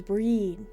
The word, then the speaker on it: Brid: It's pronounced with a long E. Oh, so it's breed. Similar to the English word breed, but the final D is the D for Bridget. Almost a J sound.